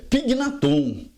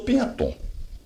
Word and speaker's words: Pignaton: A pronúncia certa em italiano é Pignaton.